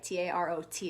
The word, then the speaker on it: tarot: If you take the letters T-A-R-O, and at the end, there's a silent T, right? T-A-R-O-T is how tarot is spelled.